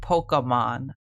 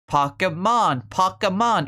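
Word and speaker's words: Pokémon: Pokemon. It's Pokemon. It's not poke. It's pock like pocket.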